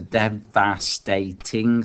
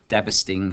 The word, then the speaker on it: devastating: So it's the devastating, 4 syllables, whereas here devastating, obviously just 3 syllables.